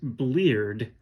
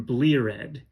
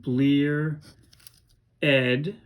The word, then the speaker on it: bleared: some of his words wants us to pronounce this ed at the end of a word as ed and not d so in this case bleard would become bleared sometimes you'll see this